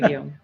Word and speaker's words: Guillaume: Guillaume, yeah, right. Oh, okay, cool. Um That That feels good, you know, I'm cultured. Okay, take it away, Guillaume.